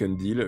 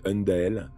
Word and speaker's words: Undael: Et je finirai de faire comme avec Undil. Je répéterai Undil, Undil, Undil, Undil, alors que c'est Undael.